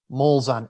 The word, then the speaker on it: Molzahn: Molzahn, MOLZAHN @madisoncollege.edu. You see what I was worried about there was that silent H you threw in there. It's a good German. Good German name.